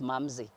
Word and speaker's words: Mamsi: the sweetest german wine it's actually pronounced mamze oh wow yes the sweetest german wine so who doesn't like anything sweet yeah i don't know let me just keep this name so i'm mumsy the sweet just jamming